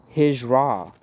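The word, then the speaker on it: Hijra: is known as the hir exuse me I said it wrong hisra h i j r a migration to Medina in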